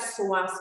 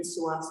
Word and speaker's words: psoas: Again, this is another one that stretches out the psoas muscle. It's your muscle of your soul. Spelled with a P, the psoas muscle, which is very interesting.